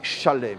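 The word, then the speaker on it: שלם: Donc quoi qu'il en soit, même en français, Zalem est une déformation francophone ou occidentale du mot écrit qui est Shalem.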